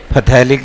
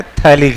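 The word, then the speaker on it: phthalic: है आपका थैलिक acid, pH silent होता है, हम बिहारी हैं, पूरा बोलो, फथैलिक एसिड, बट एक्चुअल प्रोनाउंसिएशन होता है थैलिक एसिड। ठीक है, याद रखिएगा, पीएच यहाँ पे साइलेंट रहता है।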